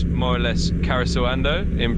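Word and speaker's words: Karesuando: It's more or less Karisawando in pronunciation, and it's a neat little spot.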